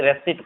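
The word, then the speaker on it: receipt: रेसिप्ट, रेसिप्ट इसे नहीं पढ़ते, रेसिट पढ़ते हैं, रेसिट, रेसिट, इसे रेसिट पढ़ा जाता है।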